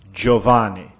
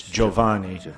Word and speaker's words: Giovanni: I have a point in Italian it's Giovanni not geo you don't say all the letters it's Giovanni I know this because